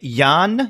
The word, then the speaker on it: Yann: title in a while and it's written by Yann is a how you pronounce his name yes why a NN in